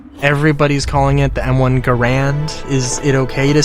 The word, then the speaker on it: Garand: was John Garand and insisted on pronouncing his name Garand. So and maybe I have it backwards. I hope I don't. But like, you know, I mean, like, I would never call him John Garand because like that's not how he pronounces his name. If I wanted to be disrespectful to him, I would call it that. But, um, it's John Garand.